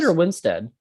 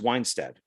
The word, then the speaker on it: Winstead: oh yeah mario weinsted yes winstead i always thought it was weinstead is that how it's